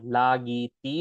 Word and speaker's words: લાગી હતી: Again, લાગી હતી is how we pronounce it when we say it relatively quickly.